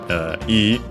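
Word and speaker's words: 良い: Yeah, Yosh is actually simply in this case the classical form of the E adjective yoi, more often than not when not conjugated pronounced as E in contemporary Japanese, and it has the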